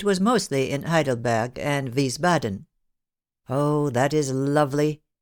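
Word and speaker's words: Wiesbaden: him Gretchen lived in we badden then yes but For Heaven's Sake pronounce it with a V and not a w and in three syllables instead of four Arthur answered pettishly his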